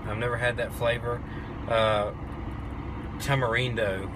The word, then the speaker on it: tamarindo: Tamarindo, I believe, is how you would pronounce that in Spanish.